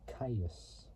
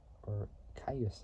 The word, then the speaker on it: Kyuss: Metal, Wolf Mother, and Caius. Or Caius, I can't pronounce it, but it's spelled Kyuss, which is an American stoner